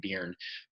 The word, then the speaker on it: Byrne: I think that's how you pronounce her name, Byrne.